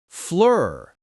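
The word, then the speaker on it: fleur: For r flur flower, you hear the sound.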